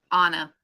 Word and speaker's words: Anna: that grandma anna says some call me with a short a and some say my name with a long a grandma anna are anna grandma and anna anna and anna oh